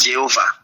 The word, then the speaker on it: Jéhovah: Et la prononciation du latin, c'est Jéhovah.